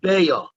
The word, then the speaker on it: Beitzah: Now, every time it says Beitzah, we're going to call it Beya, because even though it says the word Beitzah, the way the word is supposed to be pronounced in Aramaic is Beya.